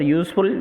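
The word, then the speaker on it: useful: بک، ایک مفید کتاب، تو یہاں پر یوزفل یو سے شروع ہو رہا ہے اور واول لیٹر ہے، لیکن جب تلفظ کرتے ہیں تو وہ واول لیٹر کی واول ساؤنڈ نہیں ہوتا ہے، اس لیے اس سے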